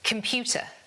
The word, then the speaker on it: computer: And it's the same with this word, the stress is on the second syllable, the pew, so it's computer. Computer. The com becomes and the uh becomes uh. Computer. Computer. This word, the stress falls on the first syllable, so it's problem.